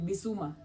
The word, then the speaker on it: Bissouma: Now, for those of you who are Tottenham fans, there's this player mnafuata anaitwa najua kupronounce jina ya mwisho vizuri. Bissouma.